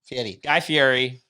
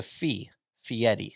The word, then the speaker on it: Guy Fieri: let's talk about guy fieri you got it guy fury i said yes just butchered it there's a guy named eddie and he has a fee fiery guy fieri that's that's how he describes how